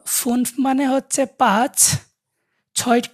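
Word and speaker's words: fünf: এফ এফ উটা উটা উমলা উটটা এটা উমলা উচ্চারণটা তো ফুনফ মানে হচ্ছে পাচ ছয় কে বলে জ্যাক্স এস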